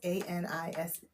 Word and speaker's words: anise: So you can put I say it wrong. It's ANISE. Anise.